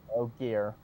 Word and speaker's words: Ogier: I remember the Orgier. Anyone want to help me with the pronunciation of that? I think The big it's hairy just dude. Ogier. Yeah. I think it's just Ogier.